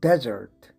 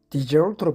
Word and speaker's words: desert: 사막일 때는 desert, 버리다 하는 동사로 사용될 때는 desert로 발음하는 게 좋겠군요.